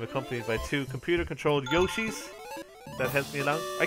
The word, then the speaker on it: Yoshi: really get it wrong like Yoshi like slushy Yosi there you go that's